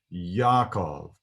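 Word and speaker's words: יעקב: is pronounced in hebrew yakov because there's no j sound in hebrew like there is in english when we come to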